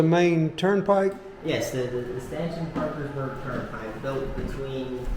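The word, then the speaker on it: Staunton: From Stuntton. From Stanton. Stanton. Pardon my pronunciation.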